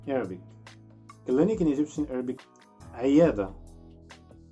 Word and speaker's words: عيادة: Clinic in Egyptian Arabic, عيادة. Try to pronounce the letter عين, عين, and say this word again, عيادة.